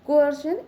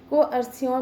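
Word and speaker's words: coercion: है वो नाउन है को अर्शन इसको कई बार लोग इसका जो प्रोनंसिएशन है वो बहुत गलत करते हैं को अरसिन बोलते हैं कई बार इसको नाउ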